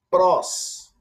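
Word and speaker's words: πρός: Avançando mais um pouquinho, nós temos aqui prós. Vou repetir a pronúncia.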